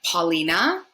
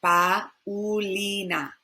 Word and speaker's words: Paulina: melia amelia this one in english we would say paulina but in spanish we're going to say pa ulina paulina paulina i've exaggerated the double o here but the a and the u just kind of flow together paulina and last instead of